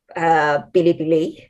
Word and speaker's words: Bilibili: One is called Bilibili. It's just how they pronounce it.